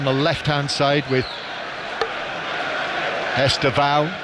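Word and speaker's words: Estêvão: Pedronetto playing on the left hand side with Estao over on the right hand side as he called himself on the official pronunciation video but I think Esa has become more the accepted way of saying his name.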